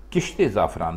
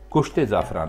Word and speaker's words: کشت زعفران: بھی اس کو بولیں اس کو تو کشت زعفران بولیں، کشت زعفران نہیں بولیں۔ تو خواتین حضرات، یہ